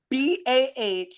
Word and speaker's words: Bahrain: How you spell it? BAHRAIN.